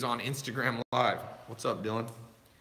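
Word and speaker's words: Dyllon: What's up, Dylan? I guess it's Dylan. I was calling it Delon.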